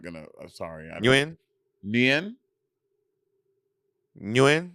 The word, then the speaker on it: Nguyen: I don't know how to pronounce the NG last name, so I'm not gonna. I'm sorry. Nguyen. Nguyen.